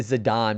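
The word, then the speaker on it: Zidane: Zedane, I say I say Zedane. Zedane, I refuse. Ignore the E in his name. Yeah, somebody said Zidon because I think that's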